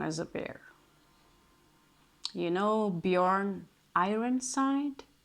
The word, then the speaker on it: Björn: You know Bjorn Ironside? Bjorn is because you don't know how to say his name in Norwegian. It's Björn or Björn, which means which means bear.